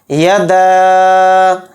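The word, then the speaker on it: يدا: کو پہلے پڑھیں گے۔ یدا، دال کے ساتھ الف ہے، یعنی دال کے اوپر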